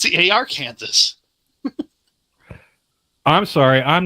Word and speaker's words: Arkansas: It's Arkansas. The correct pronunciation is Aranza, not Ar Kansas.